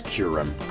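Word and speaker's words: Kyurem: I pronounce it Kyrem. I don't care that everyone else says Kurem.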